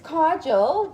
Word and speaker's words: kajal: Okay, so it's kajal. That's how I pronounce it. I keep wanting to say kajal, but like, I don't know.